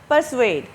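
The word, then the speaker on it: persuade: अब मुस्तफ़ा कमाल ने ये समझ लिया, एट लास्ट, बिल आखिर, परसुएड। अच्छा, इस वर्ड को आप ना इसकी प्रोनाउंसिएशन ज़रूर नोटिस करें। ये परसुएड हम पढ़ते हैं, परसुएड, ये परसुएड नहीं है, ये परसुएड है, परसुएड, ठीक है, परसुएड, परसुएड।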